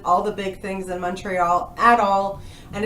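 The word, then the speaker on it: Montréal: By the way, where Florida, I love that you actually put the accent on the E in the word Montreal.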